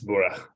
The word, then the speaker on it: Bura: Yes, and Thomas Love is going to talk about the supercomputer Bura. Is that how you say it? Yes, it's Bura.